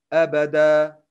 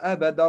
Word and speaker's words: أبدا: I should change تنوين الفتح to ألف. أبدا. But when I continue reciting, I should pronounce تنوين الفتح as normal. خالدين فيها أبدا رضي الله عنهم ورضوا عنه.